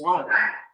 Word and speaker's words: walk: And I said, it's not walk, it's walk. What? I said, yeah, it's walk. You don't pronounce the L.